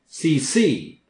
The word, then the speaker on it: CC: copy should know that second C is pronounced louder CC any time you see